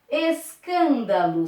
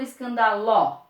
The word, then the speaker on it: escândalo: Ou seja, é a antepenúltima sílaba mais forte. Ok? Escândalo. Separa a palavra. Escândalo. Eu falo escândalo, escandalo, escandaló.